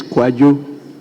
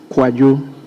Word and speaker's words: Kwadwo: His Kojo is spelled KWADWO, not KOJO. Thank you, Right Honourable Speaker. So his is Kwajo. Kwajo.